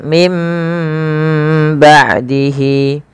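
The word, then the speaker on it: مِنْ بَعْدِهِ: Awalnya min, maka diganti dengan mim, ya, maka menjadi mim, ya, maka ditandai dengan mim kecil di atasnya agar dibaca dengan huruf mim.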